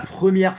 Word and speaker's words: première: No, what's the pronunciation of the first syllable of the word first? What's the first syllable of the word first? Is it prêt or pro? Prêt. At least you made a commitment, and at least it was one of the acceptable vowels, which is up here.